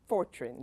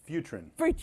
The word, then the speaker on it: Futrin: But why did your company is Fortran, did I say it right? Close, Futrin. Futrin.